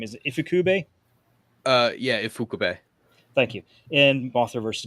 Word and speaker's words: Ifukube: Yeah, Ifukube.